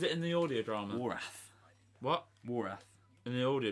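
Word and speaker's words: Wrarth: But the W silent. Yeah, the Wrath. W silent. It's Wrath. It's Wrath Warriors and W is silent. I was saying Wraith.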